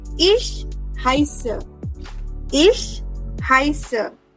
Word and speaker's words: heiße: we can say Ich heiße. Ich heiße. Why are we saying heiße now? Because of the SZ. Remember, SZ gives the sound of double S.